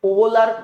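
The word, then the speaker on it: Wöhler: এটা ওভলার উচ্চারণ হয়েছে এখানে। তো যাই হোক এটাকে আমরা ফ্রেডরিক ভোলার বলে থাকি।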